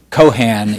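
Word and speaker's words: Keohane: century uh as difficult as it is to pronounce entrepreneurship uh the Cohan is in fact the correct pronunciation of that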